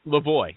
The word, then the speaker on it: LaVoie: Okay, you told me it's really LaVoie, so I'll call you LaVoie.